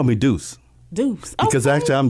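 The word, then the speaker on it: Duce: They call me Deuce.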